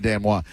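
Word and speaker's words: denouement: Uh please that that is spelled denowment but is pronounced Dano.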